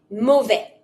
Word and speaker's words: mauvais: Bad quality, something's bad, mauvais. Mauvaise. Finishing with an S when it's masculine, there's no E, don't pronounce the S.